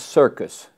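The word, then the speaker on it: Cierkes: His name was Vincent Circus, not spelled like circus show, but C-I-E-R-K-E-S.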